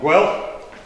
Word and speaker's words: Guelph: So you have four board members of ICLEI: Mark Bronston from Edmonton, Linda Harvey from Calgary, Rob Kerr from Guelph. Did I pronounce that right that time?